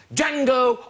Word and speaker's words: Django: That's Django Unchained. Yes, yes, the D is silent, rather like the N in Tory cuts.